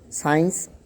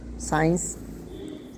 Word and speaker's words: science: Science, when S and C both come together, then mostly C is silent. Science, ascend, and scissors.